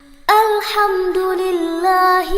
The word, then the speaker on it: alhamdulillah: Dalam pelafalan huruf H dalam bacaan alhamdulillah dan lillahi itu berbeda. Dalam bacaan alhamdulillah hanya itu menggunakan H kecil, sedangkan dalam bacaan lillahi hanya menggunakan H besar.